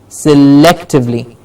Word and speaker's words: selectively: all the words yes selectively luck gets the stress selectively and the bar to